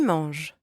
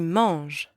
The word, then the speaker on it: manges: Tu manges. You eat. Tu manges. And don't pronounce the S at the end.